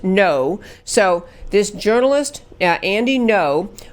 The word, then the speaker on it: Ngo: and I looked it up and so it's pronounced No so this journalist and Ino was at the